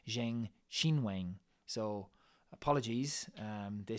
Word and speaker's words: Zheng Qinwen: me in the comments about my pronunciation of Zheng Qinwen, which is what I said. It's apparently Zheng Qinwen.